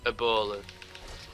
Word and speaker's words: Ebola: Ebola. It's like a tombola.